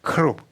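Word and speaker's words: כרוב: 크룹 예 히브리어 발음도 크롭이지. 예. 그룹하고 좀 뭘 멀어요.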